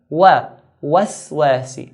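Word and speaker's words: الوسواس: The wa we pronounce it in a light manner. Wa. Waswasi.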